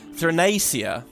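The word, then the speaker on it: Theia: people by teaching you the fact that I've been saying it wrong and then so it's Thia and you know I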